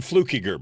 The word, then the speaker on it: Fluckinger: Well, lots of people see F-L-U-C-K and they think Fluck, and then I-G, they're thinking there should be an N in there, Inger. So Fluckinger is usually the mistake,